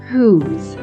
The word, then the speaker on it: whose: under this tricky part this third heart will remind us that e is a silent letter and it doesn't do its job as a magic e in the word who's it's time to get